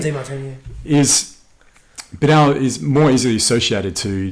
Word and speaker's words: Demartini: Is that how you pronounce his last name? Yeah, DeMartini.